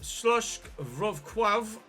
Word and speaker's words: Śląsk: Here we are then, away from home against Śląsk Wrocław, or Wrocław. Polish, not my first language. I apologise for the pronunciation and the butchering of it.